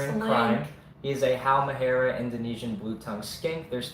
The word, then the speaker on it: Halmahera: That's when I can't spell it. Just try it. Yeah. Let's do it. Halmahera. Sound it out. Halmoura. It's an A. Is it? Halmahera.